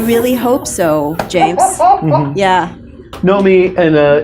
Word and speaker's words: Naomi: hope so James yeah know me and it's pronounced know me right it is pronounced know me like the sort of like early eighties avant-garde New Wave opera singer Klaus Nomi yes okay just wanted